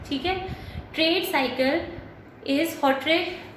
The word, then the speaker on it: Hawtrey: सबसे पहले according to हॉट्रे, ठीक है, ट्रेड साइकिल इज हॉट्रे की स्पेलिंग ये है HAWTREY, ठीक है।